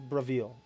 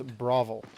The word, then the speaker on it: Bravil: Brav I I pronounce it as Bravil and I think people in the game pronounce it as Bravil. A lot a lot of people pronounce it as Bravo.